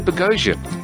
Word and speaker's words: Boghossian: And Peter Boghassian. My pleasure to be here. My pronunciation still working, Peter? Absolutely perfect.